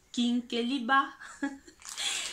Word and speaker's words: Kinkeliba: Donc, il faut bien prononcer ça avec l'accent africain, le Kinkeliba.